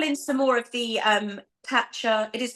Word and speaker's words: Tatcha: To add, I did call in some more of the Tatcha. It is Tatcha, isn't it?